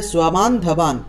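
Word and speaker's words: স্ববান্ধবান্: বয়ম হন্তুম ধার্ত রাষ্ট্রান স্বাবান ধবান, দন্ত্যস্বর নিচে বফলা আছে সেজন্য স্বা উচ্চারণটা হবে স্বা, তয়ের নিচে ব থাকলে উচ্চারণটা তুয়া, তাহলে দন্ত্যস্বর নিচে ব থাকলে সেটা হবে সোয়া, তাহলে সোয়াবান ধাবান।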